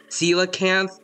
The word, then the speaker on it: coelacanth: I think I constantly called it like it's like Coelophysis or something like that because it was like how I called coelacanth coelacanthus. Like the first 4 letters I pronounce it as coal instead of seal.